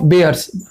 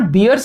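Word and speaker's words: bears: एज इफ शी इज a group of बेयर्स. इट इज नॉट बियर्स, इट इज बेयर्स, है ना. भालू को हम बेयर्स कहते हैं. Correct pronunciation is बेयर, नॉट बियर.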